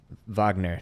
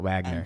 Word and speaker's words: Wagner: and he's like oh Vagner is German so it's pronounced Vagner not Wagner here it is go